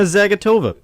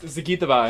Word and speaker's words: Zagitova: That's actually the correct pronunciation, by the way. Evgenia Medvedeva Yeah, and Medvedev. Alina Zagatova. it's Zagitova, actually.